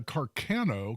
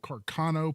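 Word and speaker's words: Carcano: it was Italian uh Carano Carano probably uh is a better pronunciation uh made in Italy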